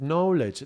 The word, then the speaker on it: knowledge: secret is a secret knowledge. Knowledge is an interesting word starts with K. We don't really pronounce it, but the K is there and is like the